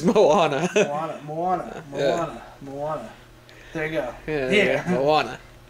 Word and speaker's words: Moana: it's how you pronounce it, and I can't pronounce it. It's Moana. Moana.